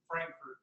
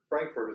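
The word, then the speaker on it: Frankfort: these guys got it back here it's actually pronounced frankurt Frankfurt is actually good job Kentucky was I Just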